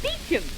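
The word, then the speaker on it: Beauchamp: Beecham. Well, how do you spell it? Why, Beaucham. Beecham.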